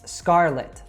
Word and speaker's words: Scarlett: It's Scarlett.